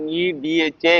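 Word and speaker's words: मेधा: don't chant this understood so example is maida me dha is equal to retention power of spiritual teaching me da ma is equal to cholesterol fat So let us go to the sukum.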